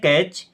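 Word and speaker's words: catch: कैच, इस word में T silent है, क्या पढ़ते हैं, कैच, कैच मीन्स होता है पकड़ना।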